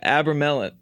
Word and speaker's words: Abramelin: Am I saying that right? The Abramelin. Yeah, Abramelin. That sounds good to me. Yeah, I said it right the first time.